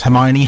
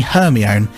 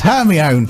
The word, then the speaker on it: Hermione: And she pronounced Hermione Hermione. and when we came to read the book, when me and my mum came to read the book together afterwards, and she said Hermione, I went, "Mum, what are you on about?